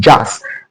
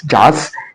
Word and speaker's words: jass: The word is pronounced jazz, and the pronunciation is jazz, and also the spelling is JASS.